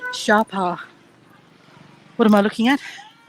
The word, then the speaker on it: Sapa: little bit of research it's not actually pronounced Sapa although it's spelled that way sa a pa a it's actually pronounced Shara what am I looking